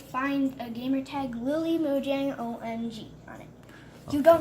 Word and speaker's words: Mojang: I'm it's very- Lily Mojango. Oh my God. No! Oh, okay. That's not how you pronounce it. Lily Mojango. Oh my God. No, Lily Mojang.